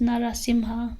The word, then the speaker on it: Narasimha: done to a specific deity so for example narasimha or well it's actually pronounced narasimha but in the in the mantra we use